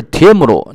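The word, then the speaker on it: 帖木儿: 帖木儿其实就是发音是帖木鲁，就是钢铁的铁啊。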